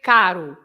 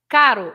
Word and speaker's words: caro: For example, it's different if you say carro and if you say caro. Okay. So it's the r, right? That is different from the r. So if you say caro, it means expensive. If you say carro, it means a car.